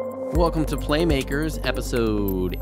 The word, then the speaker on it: Playmakers: We talk about her unique and artistic approach to game making in this episode of Playmakers. Plamacus. It's not actually pronounced Plamacus, FYI.